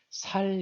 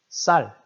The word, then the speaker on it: 쌀: 자 그리고 경상도 우리 경상도에서는 쌀을 살 이라고 해요 쌍 시옷 발음이 잘 안된다 그래 옛날부터 그래서 살기 라고 하는 사람들이 많이 있습니다 경상도 택해 어른들 중에 쌀 쌀 강하게 해야 됩니다 살 보다 강하게 쌀 이렇게 발음 하셔야 되요 쌈 쌈 쌓아 다